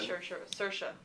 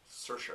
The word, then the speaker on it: Saoirse: So that's I'll butcher her name, Saoirse Ronan. Saoirse. Yeah, she pronounces it wrong. And talks about how she pronounces her own name wrong. She says it's Saoirse like inertia, so I never forget it.